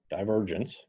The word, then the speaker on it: divergence: 2 comma F 3 we define div of F that's pronounced divergence and its definition is this